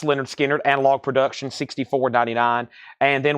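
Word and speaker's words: Lynyrd Skynyrd: $64.99 the very popular Leonard skinnard pronounced Leonard skinnard analog production $64.99 and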